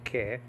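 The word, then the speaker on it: καί: all these Greek words Kai nowadays in modern Greek pronounced que they're like that I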